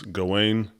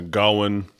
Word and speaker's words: Gawain: Some say it's Gawain with an accent on the towards the end, and some say Gawain with a hard G in the front.